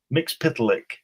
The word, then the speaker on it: Mxyzptlk: How do you pronounce it? Mxyzptlk.